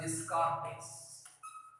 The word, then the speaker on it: Descartes: We should pronounce this one as Descartes.